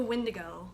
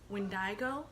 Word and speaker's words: Windigo: or scary um the Windigo or when wind I go iron someone pronounced it wind I go when I'm pretty sure it's Windigo I'm gonna be pronouncing it Windigo just like my last